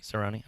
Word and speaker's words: Cerrone: somebody that and I'm saying it right roni Cerrone okay I just wanna make sure Oh have